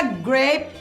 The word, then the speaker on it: grape: A palavra grape, que significa uva em inglês, temos apenas uma sílaba, e isso porque o E no final da palavra é mudo e, portanto, apenas a vogal A é pronunciada, sendo ela o núcleo da sílaba.